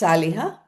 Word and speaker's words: Saleha: Uh it is pronounced saliha. Saliha. The first syllable is stressed.